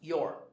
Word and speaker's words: you're: So you are would be your. It's pronounced your. Your. We are is we're. Practice saying it.